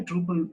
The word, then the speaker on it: Drupal: It's a Dutch word, Drupal. It's mean that how it's spelled. Truppel.